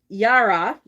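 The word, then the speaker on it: Jera: hide on me um it is it's uh yara j-e-r-a which is the two hold on let me show you j-e-r-a this is the rune that we're looking for this one it's pronounced yara or yira um and it's not always obvious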